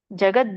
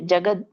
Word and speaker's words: ಜಗತ್: ಸಚರಾಚರಂ ಹೇತುನಾನೇನ ಕೌಂತೆಯ ಜಗದ್ ವಿಪರಿವರ್ತತೆ ಜಗತ್ ಇಲ್ಲಿ ನೋಡಿ ಜಗದ ವಿಪರಿವರ್ತತೆ ಅನ್ಬೇಡಿ ತಪ್ಪಾಗುತ್ತೆ ವ್ಯಂಜನ ಇದೆ ಹಾಗಾಗಿ ಜಗತ್ ವಿಪರಿವರ್ತತೆ ಅಂತ ಹೇಳಬೇಕು ಇದರೊಂದು ಅರ್ಥ ಮಯಾಧ್ಯಕ್ಷೇಣ ಅಂದ್ರೆ